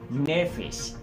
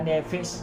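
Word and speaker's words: נפש: Esa palabra ser viviente de este texto en hebreo se dice nefesh, y esa palabra nefesh o nefesh, si de pronto está mal pronunciado, hace referencia a un alma.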